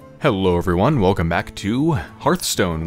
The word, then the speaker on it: Hearthstone: everyone welcome back to hearthstone which is apparently actually pronounced hearthstone not hearthstone all right time for